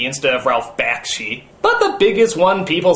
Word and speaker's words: Ralph Bakshi: there for whatever reason i could never quite pronounce correctly like judge hirsch instead of judd hirsch ralph bashke instead of ralph bakshi but the biggest one people seem to harp